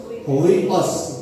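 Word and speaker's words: υἱός: Bacanya hui, langsung hui, awios, huios. Tulisan aslinya huios, jadi baca huios.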